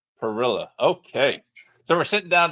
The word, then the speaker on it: Pirila: And I'm realizing now as I'm preparing to read the bio that I never asked Alex how to pronounce his last name. No worries. Alex Pirila. Pirila.